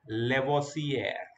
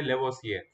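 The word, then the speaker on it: Lavoisier: है फ्रेंच की, तो वो फ्रेंच के प्रोनाउंसिएशन को इंडियन तरीके से बोलती है। जैसे कि यहाँ पे लेवोसियर, लेवोसियर, लेवोसियर, लेवोसियर, ऐसे नहीं बोलना है, ऐसे नहीं बोलना है, एंटोनी लॉरेंट लेवोसियर।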